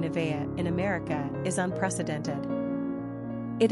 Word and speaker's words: Nevaeh: Pronunciation, Nevaeh. Simple meaning, heaven, spelled backwards. Characteristics of Nevaeh.